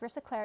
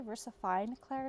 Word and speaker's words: VersaFine Clair: claire nocturne black ink sorry i always call it versacler it's actually versafine claire not turning i hope